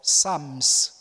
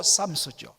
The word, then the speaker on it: Psalms: 바로 Psalms. 앞에 P는 묵음이 됩니다. Silent. 그래서 Psalms라고 됩니다. 복수로 Psalms죠.